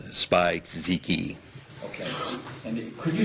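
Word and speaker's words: Spizike: I was looking for the Air Jordan 11 low and a Air Jordan Winterize, it's a weird name, Spike-Ziki. Okay, and could you spell that just for the purpose of our record?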